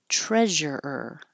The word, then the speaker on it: treasurer: Treasure when you pull your tongue back for the and I know it looks like a u like treasure but it's not. It's like her. Treasure. Hold it there and make the sound again. Treasureer. Treasurer.